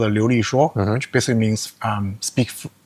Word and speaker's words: Liulishuo: So, the the the the product name is always being Chinese called Liulishuo, which basically means um speak speak fluently.